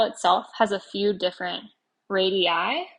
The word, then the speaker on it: radii: has a few different radii radii eyes like the plural kind of like cactus thing cacti so that word is